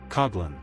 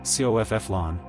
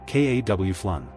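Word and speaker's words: Coghlan: Americans read it like the word cough and say cofffflon or worse kowan. A standard English pronunciation is k aw flun. K a w like c the sound a crow makes then flun like flun in influenced said short. K a wun. Say it with me. K aw flun again.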